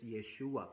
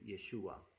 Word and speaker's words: Yeshua: Y de esa manera podemos darle casi la pronunciación hebrea a ese nombre lo mismo cuando decimos yeshua por ejemplo yeshua es hebreo y nosotros en nuestro idioma lo escribiríamos como y s h u a entonces yeshua que eso es una transliteración Si queremos decir